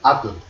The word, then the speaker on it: atl: ATL, que se lee atl.